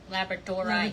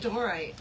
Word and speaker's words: labradorite: Somebody somebody in Tucson was trying to tell me that we were we were all saying it wrong. Everybody in America was saying it wrong and we should be saying it as um Labradorite. Labradorite rather than labor.